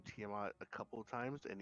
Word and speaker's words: Tiamat: actually read it and the name is pronounced tiamat says evil brook what do you know about this teamer organa sorry jesus christ